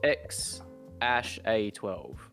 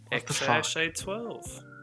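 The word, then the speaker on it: X Æ A-12: not be pronounced X-A-12. X-Ash A12.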